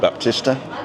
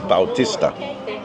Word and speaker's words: Bautista: So the first one here is artist, and you just add an A. Artista. Baptist, Baptista. Capitalist. No, actually Baptist is Bautista.